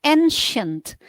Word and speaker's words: ancient: Bacanya ancient. Tulisannya C Ancient. tapi dibacanya S.